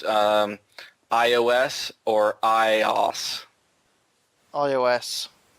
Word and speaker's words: iOS: Smith wants to know, is it pronounced iOS or iOS?